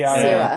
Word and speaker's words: Cera: It's because of how they spell it. C-E-R-A. Yeah, see, Sarah.